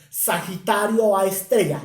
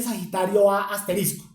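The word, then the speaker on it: Sagitario A*: radio fuente conocida como Sagitario a Estrella la estrella se escribe se escribe con asterisco pero no se dice Sagitario asterisco se dice Sagitario a estrella que hasta ese momento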